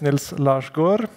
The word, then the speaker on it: Nils Larsgård: uh my name is Nils lar Gore It's not that um uh difficult to understand that other people can't pronounce o but it's a it's a Norwegian weird letter so yeah uh I'm